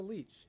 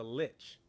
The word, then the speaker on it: lich: yeah he's he's a leech he's a he's a lich not a leech a lich is Lich is a little different from a leech but yeah I I